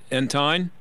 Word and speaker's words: Entine: Is it Entine? Yep, that's correct.